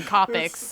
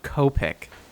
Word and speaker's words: Copic: whatever until we see Oda color them in copics okay they're just high on the weekend with their house shoes on I I I hate to break it to you but it's pronounced Copic who the markers oh the markers yeah probably